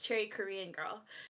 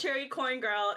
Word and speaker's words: cherrykrngirl: with other people like people would pronounce it corn instead so I got branded as Cherry corn girl instead of cherry Korean